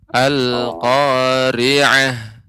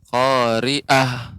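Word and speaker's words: القارعة: khoriah ya airnya Bapa pengucapan lain ini agak lebih dia lembut al-qariah ya Tidak khoriah sehingga akan tampak seperti huruf hamzah demikian tulus hati dilatih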